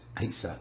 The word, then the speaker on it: Isa: And we got a letter saying Bon's mum, I think it's Isa is the proper way to pronounce it, was going to come